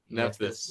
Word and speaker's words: Nephthys: I wanted to know, I can't pronounce this one for the life of me. Oh yeah, Nephthys. Nephthys? Nephthys.